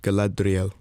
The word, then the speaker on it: Galadriel: the original movies specifically we have uh collateral galadriel and i i wussed out of trying to pronounce it and that made it worse it made it worse it's like galadriel yeah there you go you're much better so